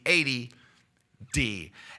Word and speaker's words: 80D: You have to say it like that, ADD, because if not, it sounds like ADD, like attention deficit disorder, but it's not. It's the 80D.